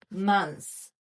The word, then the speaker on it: months: 그래서 TH를 없는 셈치고 mon스라고 있는 거예요. mon스 이렇게 mon스 그냥 달리다라고 한다면 검데 발음 살려서 month 이렇게 했겠지만은 지금이 경우에는 어떻게 되는 거야? T는 발음하지 않아. S months months해서 7 months of the year 이렇게 읽으면 되겠죠?